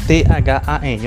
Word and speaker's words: than: Então, o THAN. Olha só, eu coloquei aí o símbolo, né, correspondente à pronúncia. A pronúncia deste é com o som vocálico do A, than.